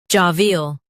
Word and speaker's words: jovial: Stress ja and keep V bright.